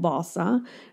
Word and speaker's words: Wasa: It's called Vasa. It's spelled Wasa.